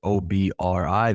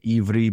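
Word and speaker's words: עברי: or transliterated literally as o b r i, they say ivri, but it looks like obri.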